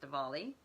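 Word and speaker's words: Diwali: It's called Dvali, spelled Dewali with a W sometimes, but pronounced Dvali.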